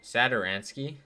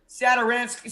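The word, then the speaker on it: Satoranský: Do you know how to pronounce that last name? Sadaransky. Sadaransky.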